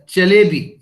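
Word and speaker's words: Çelebi: हिजारफन अहमद चलेबी. ये जो सी के नीचे कॉमा सा होता है ना, ये टर्किश में इसको चे प्रोनाउंस करते हैं.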